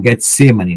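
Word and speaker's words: Getsêmani: até o getsem que é o Getsemani né pronunciado como Getsemani é a prensa da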